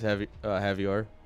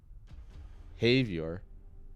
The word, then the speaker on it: Havior: Havior. What? I've been saying it wrong for months, and you just now let me know this? Havior.